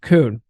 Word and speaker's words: Koen: I do know that that's how you pronounce his first name, Koen.